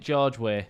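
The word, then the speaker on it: George Weah: yeah um how to say it is it George way yeah yeah yes in I was going to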